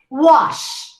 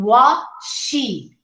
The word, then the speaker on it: wash: So we say wash instead of saying wa-she. See? 2 syllables. It's only one.